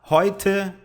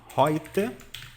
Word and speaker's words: heute: Heute é um advérbio, significa hoje, tá? Você pronuncia assim, ó, heute, tá? Heute. As letras EU no alemão é sempre som de O, I, oi, oi, heute.